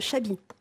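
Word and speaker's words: Xabi: fils oui il s'appelle Chabi Chabi vous l'écrz comment X a ah bah comme bichente qui on dit bichente il a X X se prononce ce ch voilà ça veut dire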